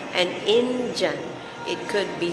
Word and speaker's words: indyan: up so he or she is called an engine it could be spelled in the end as an Indian but pronounced engine there's no official spelling to it